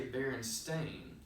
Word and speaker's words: Berenstain: Now you might think to yourself, why did he just say Berenstain? That's because our false memory has us believe it's spelled with an E-I-N on the end, when in fact the correct term is Berenstain.